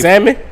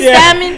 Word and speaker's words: salmon: How you supposed to this the whole thing with the L. The whole thing with this. Is it salmon? salmon?